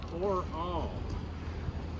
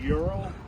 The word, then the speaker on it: Ural: talked to some Russian people, and it's Ural. All us Americans say Ural. This thing looks.